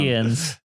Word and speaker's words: Namekians: Namekians. Hey! Oh, Look at that. shit. Correct pronunciation and everything.